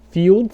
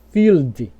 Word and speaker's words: field: Field, você não vai falar com som de U, não. Feel. Você vai falar field.